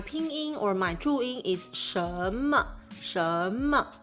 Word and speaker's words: 什么: say 什么 I say 什么什么 I don't curl my tongue because Taiwanese don't curl their tongue that much. And I pronounce it more like a third tone, 什什 the low tone.Okay, so